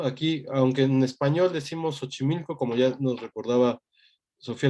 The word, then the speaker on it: Xochimilco: Aquí, aunque en español decimos Xochimilco, como ya nos recordaba Sofía la clase pasada, no es Xochimilco, es xochitl, ¿no?